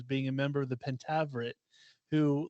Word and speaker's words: Pentaverate: it's the Pentaverate. Oh, the Pentaverate. So the Pentaverate. So that's how you pronounce it.